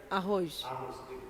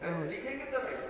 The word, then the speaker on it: arroz: They speak the R like a H. Arroz. You see rice, they say arroz. You write with R. They write with R. But when they pronounce, they say with H sounds.